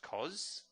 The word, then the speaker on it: cos: So for a right angle triangle with the given angle of theta, the three ratios, sine, spelt sin but pronounced sine, cosine, pronounced cos, and tangent, pronounced as tan, are given by this.